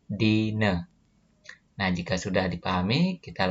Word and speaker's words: dina: Selanjutnya, huruf A di belakang sebuah kata dibacanya E. Nah, sebagai contoh di sini ada kata dine. Nah, tulisannya dina. Nah, A-nya di belakang ini dibacanya E. Jadi dine.